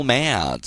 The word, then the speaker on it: mad: 엄청 화를 냈다면 go mad, okay? mad. A가 애 발음 나면 정말 깊죠? 여러분 구강 저 입 안쪽까지 해서 난다 생각하시면 되죠.